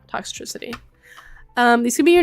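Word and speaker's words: Toxtricity: this Pokemon's name wrong I always pronounce it toxicitry but it's toxcity tox yeah toxitricity um these could be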